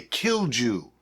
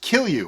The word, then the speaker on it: kilju: of people might say kill jew okay it's k-i-l-j-u as you can see right here but it's actually pronounced kill you which is kind of